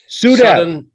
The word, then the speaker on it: SUDEP: SUDEP.